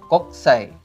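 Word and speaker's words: 国際: Lalu ada lagi kokusai, dibacanya koksai.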